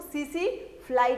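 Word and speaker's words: tsetse: अब ये टी जो है ना वो साइलेंट है, टी को पढ़ते नहीं है, इसीलिए हम इसको सीसी फ्लाई कहते हैं।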